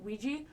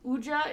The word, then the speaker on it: Ouija: The most common pronunciation is Ouija, but Ouija is another one that is commonly used.